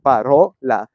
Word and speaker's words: parola: parole quindi proprio l'accento per esempio in parola cade sulla o parola e l'accento va ad